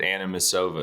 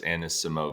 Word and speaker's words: Anisimova: You do the M and the S. You said Anisimova. It's Anisimova.